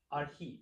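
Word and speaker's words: ἀρχή: How would you pronounce that syllable? R. And then this one? He. Arhi.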